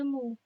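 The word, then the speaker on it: μ: Ini dibacanya mu.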